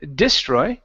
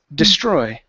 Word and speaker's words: destroy: On this word, the stress is on the end of the word. Instead of destroy, it's destroy. Destroy.